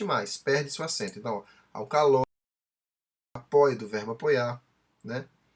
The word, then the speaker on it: alcaloide: No novo modelo, se escreve dessa forma, sem um acento agudo no O, mas continua se pronunciando da mesma forma. Alcaloide, certo?